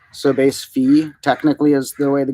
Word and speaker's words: Phi: so 100 in the golden ratio base this is in Golden in base what's looks like Phi but it's pronounced fee so base fee technically is the way